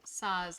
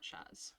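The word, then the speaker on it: Sazh: with Saz, not Shaz. Saz. Well, David, is that how you pronounce it?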